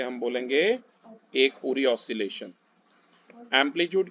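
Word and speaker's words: amplitude: एम्पलीट्यूड इसे pronounce करते हैं, ध्यान रखना।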